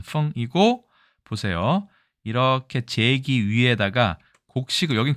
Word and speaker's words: 丰: 발음은 펑이고, 보세요.